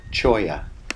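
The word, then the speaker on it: cholla: l l a chola I found out it's pronounced choya Garden so these Cactus are just going crazy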